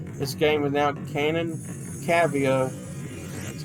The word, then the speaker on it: Cavia: Cavia, that's how you pronounce it, who made this game, went on